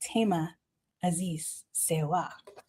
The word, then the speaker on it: Thema Azize Serwa: The wonderful, amazing TMA Aziz Siwa.